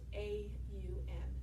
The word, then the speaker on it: om: our heart center and it's spelled om but it's really pronounced a um ow kind of exaggerating it a lot of